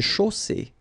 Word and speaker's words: chaussée: Une chaussée. Okay, here, final not pronounced. And then you get the double S between two vowels, so it's really strong. I mean, the S is s. Okay, so une chaussée.